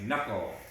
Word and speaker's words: knuckle: the answer because she studied new nine is knuckle knuckle i scraped my knuckle on the brick wall